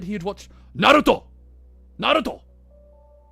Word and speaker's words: Naruto: Uh, I think you'll I think you'll find that it's pronounced Naruto. Naruto.